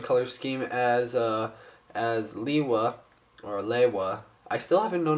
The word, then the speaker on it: Lewa: scheme as Liwa, or Lewa. I still haven't known how to pronounce Liwa's name. I still don't know, you know. They say Liwa in the movie, but in the advertised they say Lewa.